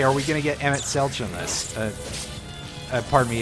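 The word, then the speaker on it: Emet-Selch: to ourselves hey are we going to get emmett celch on this uh pardon me is his name is pronounced msl it's not can we get you know can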